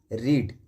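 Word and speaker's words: read: first form होती है रीड इसकी सेकंड फॉर्म होती है रेड स्पेलिंग सेम है लेकिन आपको प्रोनंसिएशन रेड का करना है इसकी थर्ड फॉर्म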